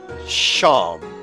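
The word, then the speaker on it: Seam: anything better to do the names seem pronounced Sean Oh like Sean and this is my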